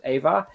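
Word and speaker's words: Eivor: control of a viking called iva or ava is pronounced ava now ava could either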